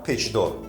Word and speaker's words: Печдор: Only when preceded by a resonant consonant, consonant ч can have a resonant tone: Печдор (Twisted) is called everything that is twisted.